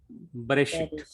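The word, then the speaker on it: בראשית: It is not long E. It is a Be. very short E. Be. Be. Be. Be. Like in first beginning verse of the Bible, Bereshit. Bereshit. Bereshit. Bereshit. So that very short E sound it will give.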